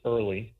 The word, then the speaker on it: IRLI: WWII rlig org in our acronym is pronounced early by the way or you can find